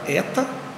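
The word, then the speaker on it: ἦτα: h é a letra Eta maiúsculo Eta minúsculo a sua forma em grego a sua pronúncia em português letra aberta Eta que corresponde ao som e em atleta a próxima letra a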